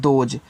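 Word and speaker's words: those: देखो इसको पढ़ते हैं दोज तो टी एच से आपका यहां पे द होगा ओ से ओ की मान्यता दो यहां भी एस के बाद इ है तो यहां पे आपको ज कहना ये हो गया आपका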